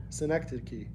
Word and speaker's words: Synecdoche: Synecdoche. Synecdoche.